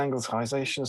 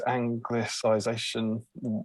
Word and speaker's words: anglicization: oldest sounds dreadful uh soft sea and angletization so phonetically it's anglicization right okay perry thanks love